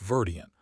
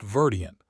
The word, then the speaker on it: verdient: "You mispronounced verdient," she said, her voice unsteady. He looked stricken. "I did. The I is a long vowel. You made it short."